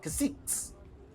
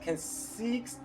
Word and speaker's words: cacique: tell you guys, called caciques. They're called, it's actually the Tiano word for like chieftain.